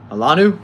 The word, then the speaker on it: Alanu: It says the first name is pronounced Alanu. Alanu?